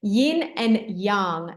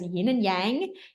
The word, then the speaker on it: yin and yang: Yin and yang. Now, you may have heard this as yin and yang, and it's not really the correct pronunciation.